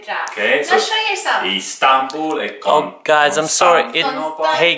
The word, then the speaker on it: Istanbul: Just for interest, in Turkish, when you pronounce a name, you put the emphasis on the second syllable. So it's not like I said yesterday and he got really irritated, Murat. It's not like that, it's Murat, and right? It's not Istanbul, it's Istanbul. Good job.